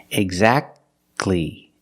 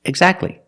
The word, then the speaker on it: exactly: consonants examples exactly Christmas we see the t is between consonants so we don't pronounce it you don't say exactly